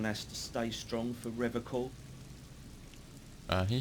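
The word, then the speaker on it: Revachol: he pronounces River call with a hard K unlike other people yeah cuz we're just like we like that okay said River call I like to pronounce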